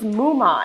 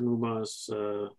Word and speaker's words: Moomaw: Yeah, his last name is Mouma, Moomaw.